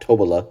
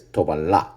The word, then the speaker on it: Tobalá: right here right yes that little Accent on the a makes it go up so it's not tobola right it's tobala right cool excellent great pluma